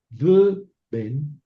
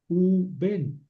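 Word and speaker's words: וּבֵן: Y si yo digo y un hijo, v ben, ven que está complicada la pronunciación, v ben, entonces esta consonante se convierte en shurek, u ben, y aquí quiere decir y un hijo, y estos son dos sílabas, u ben.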